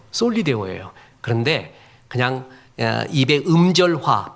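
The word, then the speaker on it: Soli Deo: 그랬더니 원래 우리가 솔라데오라고 했는데 아무리 원어 찾아보고 책 찾아봐도 솔리데오로 나옵니다라 그래요. 맞아요. 솔리데오예요.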